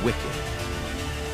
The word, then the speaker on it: WCKD: They are part of an experiment run by an organization called WCKD, pronounced wicked.